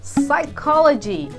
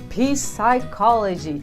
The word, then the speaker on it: psychology: Por exemplo, psychology. Stop saying psychology. Psychology. O P é mudo, a gente não pronuncia ele.